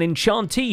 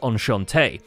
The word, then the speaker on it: enchanté: teacups are now an enchantee shop, unless you're French, in which case it's pronounced enchanté.